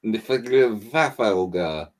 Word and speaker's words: Niflheim: Basically, someone is amassing the armada of, and I can never pronounce this, Niflheim? No, it's definitely Niflheim.